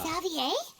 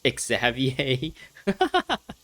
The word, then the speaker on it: Xavier: Xavier? What are you doing here? It's pronounced Xavier.